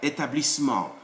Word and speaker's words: établissement: When there is ma, the suffix ma, for the formation of adverbs, if before them there is another E without an accent, don't pronounce it generally speaking. You skip it in the sound. So it's not politiquement, no, it's politiquement, like that. Établissement, fondamentalement, like that.